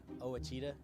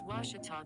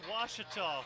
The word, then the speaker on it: Ouachita: ouachita sports digital network i've heard people say oh a cheetah oh wish tall oh a cheetah is it pronounced searching for washi at a baptist university back in texas everybody pronounces it wichita but really it's ouachita washington washington how would